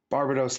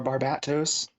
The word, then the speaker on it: Barbatos: i think i've seen barbados look so or barbatos trying to say it right uh after the last